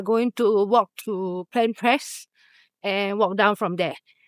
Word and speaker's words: Planpraz: The Z and the L I think are silent.